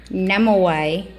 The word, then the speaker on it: Nimueh: Let me pronounce her name a little slower. Nimueh.